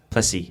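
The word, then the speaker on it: Plessis: ustedsen and henny dupress plessy i think that's how you say it plessy too plessy because it's like is but it's french-ish you are way more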